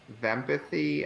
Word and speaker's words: vempathy: it because um and I pronounce it as vempathy and the idea was it's supposed to rhyme with empathy nice um and that's